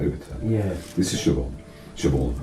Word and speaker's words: Siobhan: Siobhan, I always call it Siobhan because that's the Scottish way of pronouncing it, Siobhan.